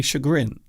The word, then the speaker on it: chagrin: So in British English, we say chagrin.